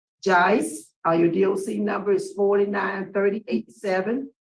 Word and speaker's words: Judice: Pearl, he does want to correct you on how to pronounce his last name, though. He's Okay, tell me, because I Judice. he's too timid to interrupt you, but he wants to give you the correct pronunciation. It's Judice.